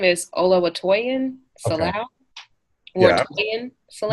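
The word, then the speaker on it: Oluwatoyin Salau: Olatoyin Salau. Yeah. Okay. How you pronounce the name again? So their full name is Olawatoyin Salau.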